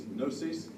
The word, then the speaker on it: gnosis: made up to the Greek word for knowledge is nosis gnosis as we would spell it out and the Abit